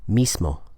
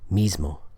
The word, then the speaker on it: mismo: Now you can pronounce it without assimilation, mismo. That's acceptable, and you'll hear that sometimes, mismo. But it's very commonly pronounced with assimilation, like this, mismo.